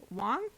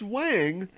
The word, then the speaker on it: Wang: he plays his friend his friend's name is Wong don't don't play with me oh okay his name is pronounced Wang oh although okay I know people whose name